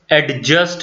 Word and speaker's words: adjust: Adjust एक word है जिसे मोस्टली हम एडजस्ट बोलते हैं। तो ए, डी और जे जब ये तीनों इकट्ठे आ जाएं तो डी साइलेंट हो जाता है।